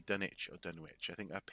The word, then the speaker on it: Dunwich: that that's the that's the right way is to say done witch and not done itch okay saying i can